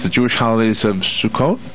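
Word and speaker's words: Sukkot: uh I'm going to take a shot of pronunciations the Jewish holidays of sukot correct that's wow wow I got it and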